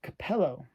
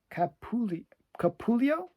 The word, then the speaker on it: Capullo: And it's a Capello cover, not Todd McFarlane. Greg Capullo, maybe? I'm mispronouncing his name.